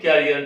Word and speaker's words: करियर: लेकिन जो जिस कैरियर की बात बोलते हैं, भविष्य के बारे में बोलते हैं, अपना भविष्य बनाओ, कैरियर बनाओ, वो कैरियर नहीं है, वो है करियर।